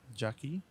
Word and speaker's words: Jaique: Excellent shot here though from is pronounced Jackie Jasper one.